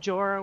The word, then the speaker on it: Bjora: I started streaming today I looked up how to say that is it is it pejorative Jorah with a silent B and it kind of